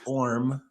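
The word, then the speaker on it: Orme: I mean, Or Sam Orm, it's Orm for those who don't know, the E is not pronounced.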